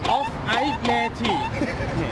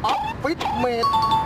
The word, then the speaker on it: Office Mate: เดี๋ยวก่อนอ่านว่าอะไรฮะ ฟิวเจอร์พาร์ค ฟิวเจอร์พาร์คครับ ฟิวเจอร์พาร์ค ครับผมอ่ านมาคือฟิวเจอร์พาร์ค ฟิวเจอร์พาร์ค ฟูตุลี ่มานี่อยู่นี่อ่านว่าอะไรเนี่ยอ่านซิอ่าน Off I Meti อะไร Off I Meti Off I Meti Off I Meti Off I Meti ดูอ่านปาก ครับผม Office Mate Office Mate เคยจำมันนี่เดี๋ยวพี่ยิ้มแป๊บนึงยิ้มกางเกงก่อน อะไรนะ หันมาพี่อ่านว่าอะไร อ๋อนี่ครับเลวิส นี่อะไรนะ เลวิส